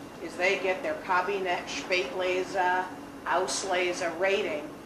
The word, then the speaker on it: Spätlese: Spätlese. In German, the S with a consonant is pronounced sh. So it's not Spätlese, it's Spätlese. Spätlese means 7 extra days on the vine.